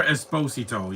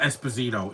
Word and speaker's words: Esposito: Jennifer Esposito. Yeah, it's not Esposito, it's Esposito. That's how you say it.